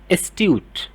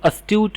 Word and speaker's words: astute: जैसे यहाँ पर एक वर्ड है एस्ट्यूट, कई बार इसे अस्ट्यूट भी प्रोनाउंस कर दिया जाता है।